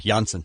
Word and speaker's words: Janssen: Sorry, Janssen.